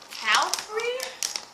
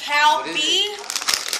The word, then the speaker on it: Calbee: Alright, so the next chip we're gonna try is Calbee. Calbee. Calbee? I don't know how to say it, but if you made these chips, I'm sorry if I pronounce it wrong. I'm gonna say it's Calbee, but let's try it.